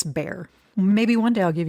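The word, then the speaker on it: Bexar: And that is Bayer County. Even though it is not spelled like Bay County, if you hear anyone pronounce it any differently, they have no clue what they're talking about.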